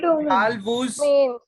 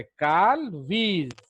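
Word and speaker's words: Carl Woese: three domain, Carl Woos. not whose, idiots. In biology, OE is pronounced as E, याद रखना.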